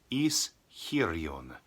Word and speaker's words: Ischyrion: It's not easy to pronounce. Ischyrion.